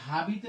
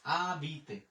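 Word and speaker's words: habiter: এরপরে এখানে হাবিতে বলবো না, এখানে আমরা আ জন্য হচ্ছে আ, বে ই বি, তের জন্য ত, ও এর উচ্চারণ একার, আবিতে, আবিতে।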